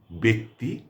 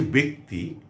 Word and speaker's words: ব্যক্তি: ইত্যাদি থাকে তাহলে পরে সেই প্রথম বর্ণটির উচ্চারণ জফলা যুক্ত বর্ণটির উচ্চারণ একারের মত হয়। এজন্যই এগুলো ব্যক্তি ব্যতীত ব্যথিত, ব্যতিক্রম ইত্যাদি। তো আজকে এই যে ব্যক্তি এর সঙ্গে যদি অন্য